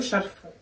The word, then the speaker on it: шарфы: Я говорю шарфы. Я тоже. Но что-то я подозреваю, что правильно шарфы. Или нет? Шарф. Ну типа шарф, шарф. Это как торт, торты.